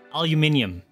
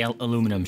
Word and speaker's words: aluminium: so it's yogurt also aluminium that one always gets me it's like there's an you're putting an extra i it's num but everyone